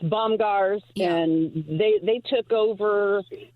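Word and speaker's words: Bomgaars: Bomar bomb well I said it wrong it's bombars and they they took over it's kind of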